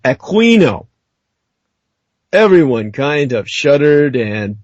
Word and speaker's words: Aquino: name with the K sound, Americanized as Aquino, the officers did the same. It was almost a show of passive resistance. And when anyone ever pronounced his name the way he wanted it, Aquino, everyone kind of shuddered